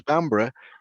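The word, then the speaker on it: Bamburgh: was before it was bambra it was a bevenborough Edinburgh yes yes it looks like Berg but it it is like like Edinburgh it spelled the same way as Edinburgh that's right which which of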